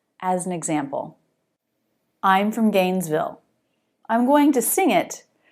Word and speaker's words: Gainesville: I'm from Gainesville. I'm going to sing it, and I'm going to slow it down. I'm from Gainesville. I'm from Gainesville. The stressed syllables are I'm and gain.